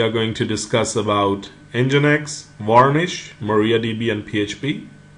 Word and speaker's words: Nginx: spelled as n g i NX but it's pronounced at engine X is a very fast web server and it's